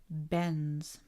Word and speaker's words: bends: This is a difficult combination to pronounce. Bends. You're almost not pronouncing the D.